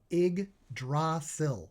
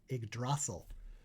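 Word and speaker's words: Yggdrasil: Igdasil, that's how you pronounce that. Idrasil.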